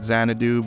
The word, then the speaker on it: Xanadu: pronouncing it Tokyo zanadu I am pronouncing it zanadu because a little bit before my time but there was a crazy insane uh disco fantasy movie called zanadoo zanadoo made